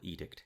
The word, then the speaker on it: edict: So when we did the preview episode for Lower Decks, I wasn't sure how to pronounce Temporal Edict, because of edict, and I wasn't sure if I was pronouncing it correctly, and you'd never heard of the word.